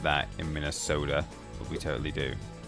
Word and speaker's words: Minnesota: True Minnesota would be uh would put a heavy accent on the third syllable. Minnesota.